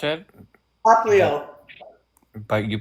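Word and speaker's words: Popplio: Pop Leo is here. Huh? Pop Leo is here. Oh. Whom you refer to as Popolo.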